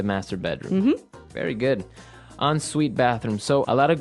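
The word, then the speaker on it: en suite: hyphen s UI T so even though it's e n we pronounce it like an o n yep on Suite so an onite bathroom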